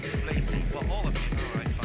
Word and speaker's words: Tbilisi: Japan we didn't actually know about, but then who knew there was a silent T in Tbilisi?